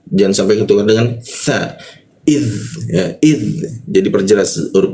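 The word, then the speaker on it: إذ: Id huruf dza mati itu harus jelas ya. Id jangan sampai nanti ketukar dengan sa, jangan sampai ketukar dengan tsa. Idz ya idz jadi perjelas huruf dza mati.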